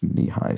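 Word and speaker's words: Nehi: previously so I think the first few times I pronounced it on this series I called it neki I think but it was it was confirmed to me it wasn't it should be pronounced knee-high so thank you for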